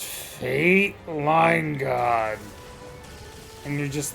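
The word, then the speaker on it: Fayt Leingod: It's not spelled like the way you'd want it to be. F-A-Y-T. F-A-Y-T. L-E-I-N-G-O-D, I believe. Yeah. But it's pronounced Fate Line God.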